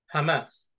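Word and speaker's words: חמס: Or the translation for that, the Hebrew word is Hamas. Hamas. And it's even spelled the same way. It's Chamas. C is also silent, so it's Hamas.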